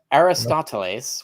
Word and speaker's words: Aristoteles: Aristoteles, which is the actual Greek pronunciation of Aristotle.